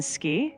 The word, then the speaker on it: 好き: In ski, the U is very faint.